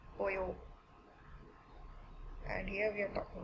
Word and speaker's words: pollo: So double L in Espanol is pronounced as Y, pollo.